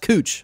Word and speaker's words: Couch: I told you our street that's spelled like couch here is pronounced cooch, so you'll know that when you come visit Portland.